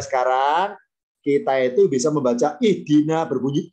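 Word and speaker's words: اهدنا: Ya, karena dalnya kasro, alifnya kasro, makanya bacanya ihdina, tidak ahdina, tidak uhdina.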